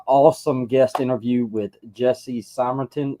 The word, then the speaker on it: Simonton: Got an awesome guest interview with Jesse Simrton. Is that how you say it, Jesse? I'm sorry. It is. Yeah, Simon. All good.